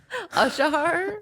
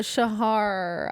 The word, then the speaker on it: Shahar: A Shahar? No, Shahar. I'm saying it right.